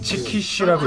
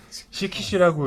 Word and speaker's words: çıkış: 시키스 아 이것도 어디서 뿌리가 이러한 거 어 무슨 야한 말 그런 건가 본데 지금 치키시라고 읽어야지 시키시라고 읽으면은 그거니까 조심하셔야 됩니다.